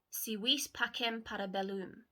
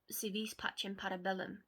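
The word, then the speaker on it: Si vis pacem para bellum: In the centre of his back are the Latin words Si vis pacem parabellum, or Si vis pacem parabellum, depending on your Latin pronunciations, meaning if you want peace, prepare for war.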